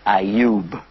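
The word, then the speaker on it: Ayyub: famous to us as well his name is auu auu and in English they call him job but they spell it j o b which looks like job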